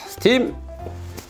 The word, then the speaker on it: STEAM: 스팀 초등과학실험캠프 STEAM 초등과학실험캠프입니다. 읽을 때 스팀이라고 읽죠.